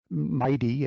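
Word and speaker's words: MITEI: or two about the MIT energy initiative um Mighty as we pronounce the acronym Mighty launched back in um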